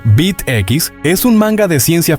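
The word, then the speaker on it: B't X: Bet X, pronunciado Bit X, es un manga de ciencia ficción de Masami Kurumada, también adaptado al anime por TMS, los mismos de Lost Canvas.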